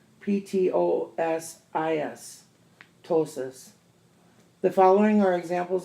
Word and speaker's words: ptosis: i ATR IST psychiatrist PT pronunciation t medical term ptosis pto s is ptosis the following are